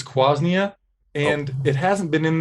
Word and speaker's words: quassia: Do you want to elaborate on what quassia wood is and also possibly correct me on my pronunciation? So it's quasnia, and it hasn't been in there.